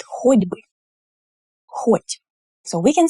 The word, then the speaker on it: хоть бы: It's хоть бы with a d. Why is it like this? Because before the b sound, which is voiced, that means when you pronounce it and you put your fingers on your throat, you feel the vibration. B, b, b, b. So it's a voiced consonant. And the t here also becomes voiced when it precedes b.